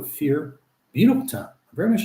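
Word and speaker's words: Fier: It's spelled F-I-E-R. They pronounce it, though, Fear.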